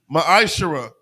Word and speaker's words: ma'ashar: Means tenth in the Hebrew. It's pronounced ma'ashara.